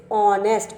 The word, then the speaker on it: honest: Next one is honest, but when we pronunciate it, we will pronunciate is honest, o. Okay, here h is the silent, here h is the silent, and it is starting with o sound, and o is a vowel, that's why we will fill here an.